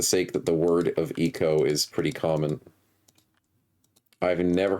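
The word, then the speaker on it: Ico: Shadow Colossus Vibes and you're saying it's pronounced like Eco I can see the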